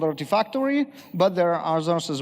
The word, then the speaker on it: Artifactory: And there are some tools, one of them actually rhymes with artifacts and called Artifactory, but there are others as well, obviously.